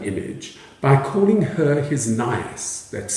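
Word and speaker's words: nyas: Romeo responds to Juliet's use of the falcon image by calling her his Nias, that's spelled N-Y-A-S. And a Nias is a nestling falcon, one that has not yet left the nest.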